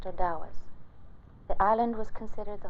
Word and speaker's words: Ottawas: Most of the tribe is made up of Ottawas, pronounced Odawas.